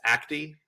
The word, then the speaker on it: Acte: begin with the story of I believe it's Acti. Is that how you pronounce it? Yeah. What can you what? Why is Acti important?